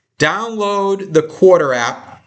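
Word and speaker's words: Quartr: If you've never listened to an earnings call, download the Quarter app. It's spelled like quarter, like a 25 cents, but no E at the end. No E at all. Q-U-A-R-T-R. Quarter.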